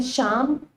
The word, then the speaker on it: Sian: I guess the story of my name, Sian, it's spelled S-I-A-N, it's a Welsh name.